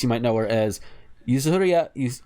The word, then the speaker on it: Yuzuriha: among other things, you might know her as Yuzuriha. How do you pronounce it? Yuzuriha, thank you, from Dr.